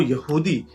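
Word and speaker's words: יהודה: इनमें जो जूडा है, जिनका अरबी और हिब्रू प्रोनाउंसिएशन यहूदा है, सिर्फ उन्हीं की किंगडम सरवाइव करती है।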